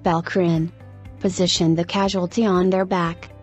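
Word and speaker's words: PELCRN: following are the treatment p-e-l-c-r-n pronounced balcrin the casualty on their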